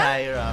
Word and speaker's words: Kyra: Am I pronouncing that Kira talaga? Kira k.